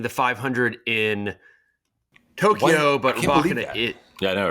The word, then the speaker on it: Rybakina: It used to be Rybakina, now it's Rybakina.